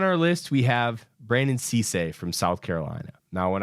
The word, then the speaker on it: Cisse: Sissay is how you pronounce it.